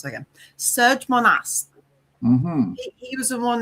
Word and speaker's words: Monast: George Serge Monsat. Mm-hmm. Monast. Sorry, let me pronounce that again. Serge Monast.